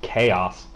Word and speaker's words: kOs: we are actually going to call the player chaos because I actually thought his name was Co because it's Kos and I do the Hooked